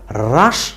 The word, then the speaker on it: হ্রাস: শব্দটি ব্যবহার করা হয় তাইলে আমরা পড়বো হ রফল আকার দন্তস শব্দটি হ্রাস এবং যার অর্থ হলো